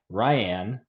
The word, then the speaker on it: Riane: I are joined by Ryan pronounced like Diane who is coming off